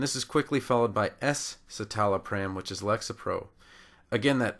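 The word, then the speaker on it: escitalopram: little bit better and we can't use the SC together because we would just pronounce it as s and it would sound just like the generic for celexa citalopram that's why the S needs to be there to add that additional syllable fluoxetine is Prozac and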